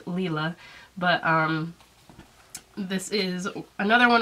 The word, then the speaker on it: Lila: It is pronounced Lila, I guess. I know I got told that I pronounced it wrong in my video, but I did make an annotation in that afterwards I found out that yes, it is indeed pronounced Lila.